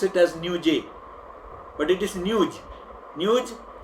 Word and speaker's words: Newj: It is N-E-W-J, Newj. You often pronounce it as Newj, but it is Newj. Newj, the way we talk in say UP or Bihar, we refer to news as Newj.